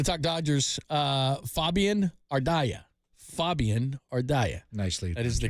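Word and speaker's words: Fabian Ardaya: right we're gonna talk Dodgers uh Fabian ardia Fabian ardia nicely that is the correct way to say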